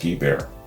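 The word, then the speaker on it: Guibert: his ex-wife jeff's mother mary guber pronounced ghee bear hard g sound allegory thanks mojo it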